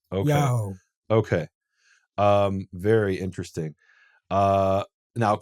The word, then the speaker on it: Yaho: So your suggestion is they pronounced it something like Yahoo. Right. Okay. Yahoo.